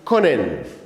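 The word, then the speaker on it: können: in our system the first one is conen Con and I said Con simply means to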